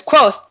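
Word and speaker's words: Kvothe: himself says you know my name is quote pronounced nearly the same as quote names are important as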